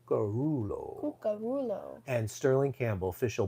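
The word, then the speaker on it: Cuccurullo: that's how you have to say it no karulo karulo remember he was on stage in Italy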